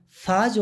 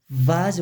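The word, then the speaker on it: Vase: Ama İngilizceden Almancaya geçmiş bu kelimeyi fazi olarak değil, tıpkı Türkçedeki gibi vazi olarak okuyoruz arkadaşlar.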